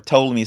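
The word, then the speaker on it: Ptolemy: one lagie named soor to me spelled with a p those you remember from sixth grade P toam me is way it's spelled and told me one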